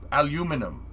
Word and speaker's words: aluminum: that's just a guess i mean it is pronounced alu aluminum tech what's going on and thank you for